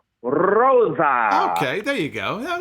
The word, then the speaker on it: Rosa: thing too, Can you roll your R the way that Dave Marquez did when he would announce her on NWA Power? Rosa.